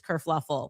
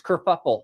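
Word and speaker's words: kerfuffle: Kurfluffle. Oh, no. That's it's kurfuffle.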